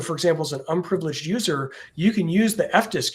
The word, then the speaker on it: usr: uh of the world it is UNIX system resources but we all pronounce it user right USR um this